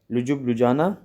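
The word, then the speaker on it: Ljubljana: Slovenia की राजधानी है लुजुब लुजाना, यानी कि जब ये, अब देखिए यहाँ पे क्या लिखा हुआ है, जुबजाना ऐसे हिंदी में बोल सकते हैं। बाकी एल चाहें तो इसमें एल साइलेंट रहता है।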